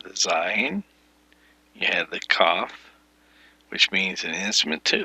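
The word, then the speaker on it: kaph: um yod is 10 cough is 20 this pronounciation is a k hard k sound as in king the cough is the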